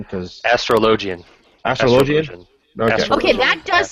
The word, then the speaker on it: Astrologian: And help me out with the pronunciation, because... Astrologian.